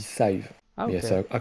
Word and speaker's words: Scythe: Il me semble que dans la notice, c'est marqué que ça se dit Scythe.